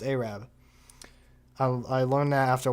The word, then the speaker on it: Arab: In fact, when I was younger, I thought it was actually pronounced Arab. It is pronounced Arab.